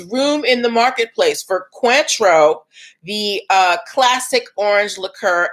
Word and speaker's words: Cointreau: spelled c-o-i-n-t-r-e-a-o so the orange liqueur it is pronounced quantro and this new drink is pronounced cuatro all right so um roxamilla is saying that there's room for cointreau and cuatro um also we need to point